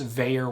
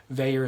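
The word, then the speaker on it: Vaer: And then, of course, Veyer Watches. Veyer is spelled V-A-E-R.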